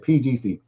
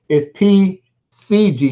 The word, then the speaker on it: PCG: Excuse me, I was saying PGC. It's PCG, not PGC.